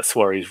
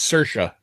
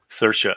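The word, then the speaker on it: Saoirse: was a pretty well-regarded movie it's got uh suarez ronin if that's how you say it suarez uh no it's uh it's sercia sercia oh that's like the irish pronunciation yeah shobhan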